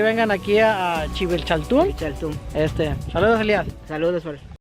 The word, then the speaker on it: Dzibilchaltún: ¿Se pronuncia? Civichaltún. Civichaltún.